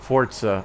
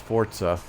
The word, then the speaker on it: Forza: I know, Fortza. I know. I wish they would have spelled it that way. You You are correct, Death. That's why I said it like that. It is It is pronounced Forza.